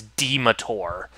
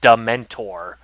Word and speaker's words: dementor: So I all so I pronounced it as demur. Yeah. I lit I literally pronounced it demur. I because I didn't know that it was pronounced dementor, you know.